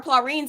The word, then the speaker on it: praline: But I did make her plorines and they were bomb. Oh, what? Pecan plorine. Pralines?